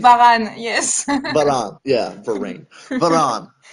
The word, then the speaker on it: Varane: I'm sorry, it's Varane, right? Varane, yes.